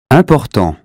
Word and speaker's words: important: That consonant tells us not to say in or im, but un. Here's how to say them correctly. Repeat them after me. Imbécile, inclination, information, injuste, important, instant, intact.